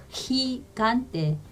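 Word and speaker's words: gigante: 히는 히 이렇게 발음하지만 가고 구는 간이 이렇게 간때 이렇게 발음하시는 거예요. 그래서 히간때, 히간때, 히간때 이렇게 발음하시면 되고요.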